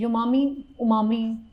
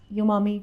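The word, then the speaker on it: umami: और ये जो है उमामी टेस्ट, उमामी यूमामी, कुछ भी प्रोनाउंसिएशन कर ले।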